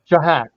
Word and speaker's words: Shahak: How do you pronounce his name? Shahak. Shahak.